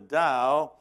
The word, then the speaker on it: Tao: the Zen Buddhist who says the da Tao pronounced dood the da is beyond thought you say where did you